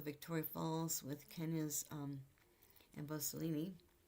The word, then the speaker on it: Amboseli: Falls with Kenya's um Emboselini I think it's pronounced Amboseli Emboseli also their Marcel Mava